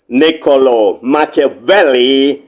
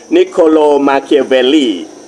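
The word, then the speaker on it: Niccolò Machiavelli: ก้อง โลก ชาว อิตาเลียน เนโคโล มาคลี พูด แบบ ไทย ๆ ก็ ออก เสียง นิโคโล มาเคียเวลี เป็น ผู้ ที่ มี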